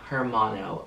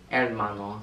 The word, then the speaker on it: Hermano: And comment down other videos you'd want to see me do with me, Hermano, over here. Hermano, sorry. You don't pronounce the H.